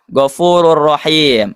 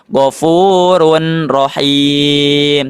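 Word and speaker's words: غفور رحيم: Terus yang kedua, gfurur rahim. Nah, lihat ya. Di sini ada ee apa? Tanwin dah bertemu huruf ro. Ini juga sama dimasukkan ke huruf selanjutnya tidak dibaca gfurun rahim tapi dibacanya gfurur rahim.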